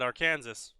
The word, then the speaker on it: Arkansas: That's what I said, Arkansas. True. It's pronounced Arkansas, after all.